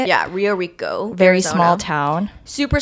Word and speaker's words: Rio Rico: Yeah, Rio Rico, Very Arizona.